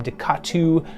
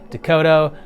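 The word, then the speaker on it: DeCoteau: I called him Ducatu when I was younger, found out it's actually Dakota, but I like mine better, so I'm sticking to it.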